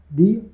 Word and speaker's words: the: अगर vowel sound होता है हमारा नेक्स्ट वर्ड, अगर वोवेल साउंड से चालू होता है तो हम उसको प्रोनाउंस करेंगे दी से, और अगर कॉन्सोनेंट साउंड से चालू होता है तो हम उसको प्रोनाउंस करेंगे द से।